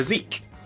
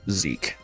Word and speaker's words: Zeke: I think what I'm going to hop down into is we're going to summon Zeki or Zeke. How do you pronounce this one? Just Zeke. I think it's just Zeke.